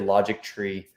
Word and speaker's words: Logitree: and what i created logic tree the reason you print we pronounce it logic tree is because it's like chemistry history logic tree it's where we're kind